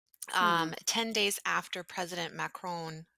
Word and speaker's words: Macron: 10 days after President Macron, I want to say macaroon, but I'm sure that's not how you pronounce it.